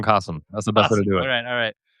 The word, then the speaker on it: Qasim: It's like awesome Qasim.